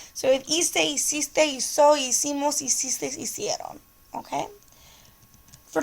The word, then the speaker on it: hizo: The only reason why we changed the C to a Z is so we don't say hico, we say hizo. Okay? So we have hice, hiciste, hizo, hicimos, hicistes, hicieron.